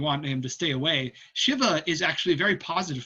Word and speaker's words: Shiva: A lot of people say Shiva. If you actually go to India, the more correct pronunciation is Shiva.